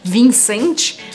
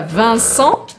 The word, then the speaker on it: Vincent: nomes também não então eu não falo a fonte vincent ou nada disso eu corto st no final então fica van son e o que é